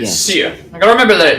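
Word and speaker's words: Cere: Seer. I gotta remember that it's Instead Seer. of opening Pronounce it up, as Seer.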